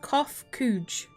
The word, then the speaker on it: Koph-Khuukh: As for nomenclature to address my individual person, I believe it would be pronounced Koph-Khuukh.